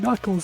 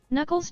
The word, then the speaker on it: Knuckles: I think what Sonic 3 Stone Cold Steve Austin spelling tip mistress knuckles name has ak in the front but it's not pronounced so don't forget it. It's a tricky word.